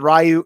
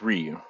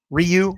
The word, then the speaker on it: Ryu: it Ryu rayu or Ryu I I said rayu how do you say the street fighter name guy Dante rayu Ryu it's Ryu Ryu I said it wrong in my video and